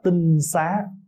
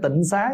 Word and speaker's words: tinh xá: Đất sạch cho nên chúng ta thường gọi là tinh xá tinh xá chứ không phải Tịnh Xá nha Bây giờ mình